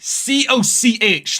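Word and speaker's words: Cody: It's COCH. Like, how do you pronounce it? Hold on. Have you ever heard of the word like Coca-Cola? cochlear? It's like cochlear implant.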